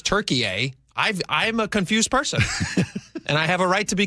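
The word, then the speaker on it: Türkiye: It's It's pronounced differently in America than it is around the world and I think it's always been Turkiye.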